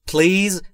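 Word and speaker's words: please: در موردش صحبت میکنه پلیز با این تلفظ پلیز و نه پلیز پلیز پلیز یا هر چیز دیگری پلیز بین پی و ال صدایی وجود نداره ما هم صدایی اضافه نمیکنیم و time یعنی لطفاً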